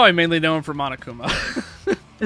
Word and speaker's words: Monokuma: But now, now I mainly know him for Monokuma. See, I'm the kind of Monokuma. I think Monokuma Monakuma. Yeah, monokuma is how it's said in the English uh versions.